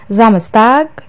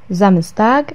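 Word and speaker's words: Samstag: زامستاغ، زامستاغ، زامستاغ السبت. زونتاغ، زونتاغ الأحد. شهور السنة، شهور السنة عندنا في مصر ليها نطق، وكمان في سوريا بينطقوها بشكل تاني، مش بيقولوا يناير زينا، بيقولوا كانون الثاني.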